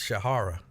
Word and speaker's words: Shahira: So even though it says Shahira, apparently it's Shahara.